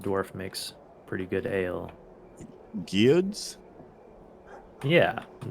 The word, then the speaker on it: Gyud: Gyud's? Yeah, it's spelled just like it sounds.